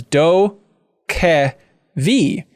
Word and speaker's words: DokeV: note here that says wondering how to pronounce dokka v read it as do ke vi it's the world where